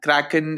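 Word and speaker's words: Krkn: an incubating project the the project is called cracken chaos and Kraken is spelled weird but that's how it's pronounced uh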